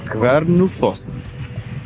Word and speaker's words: Kvernufoss: Pequeña, tú tienes mejor pronunciación que yo con respecto a idiomas nórdicos. ¿Cómo se llama la cascada? Kvernufoss.